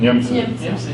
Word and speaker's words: Niemcy: Niemcy.